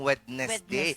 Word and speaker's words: Wednesday: Kaya nga ako pino-pronounce ko talaga yung wedness day kasi kawawa naman si letter D. Ba't pa siya nilagay diyan kung hindi mo bibigkasin? Totoo.